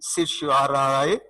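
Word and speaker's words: certiorari: ये judicial review से related है, जिसको हम प्रोनाउंस करते हैं सर्शोराए।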